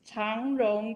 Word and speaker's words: 長榮: changrong christian university cjcu pronunciation in chinese is tong wrong that i am paying